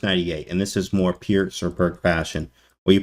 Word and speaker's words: Pirc: of the perk, or the Peerts. Sorry for the people that are very technical. It's pronounced Peerts, Peertz, but it's spelled Pirc.